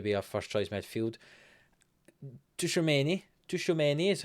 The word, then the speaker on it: Tchouaméni: Tchouaméni is how I'm going to pronounce him. Tchouaméni, the 28-year-old Frenchman, now very well-rounded.